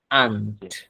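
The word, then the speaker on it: aren't: একবারে শব্দের উচ্চারণটা হচ্ছে আন্ট। আন্ট। আর এর কোন উচ্চারণই হবে না এখানে।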